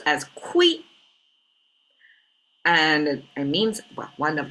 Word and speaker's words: 亏: shape this is more squiggly almost um it's pronounced as qui and it means one of the many meanings means loss means at loss lo or you're losing something.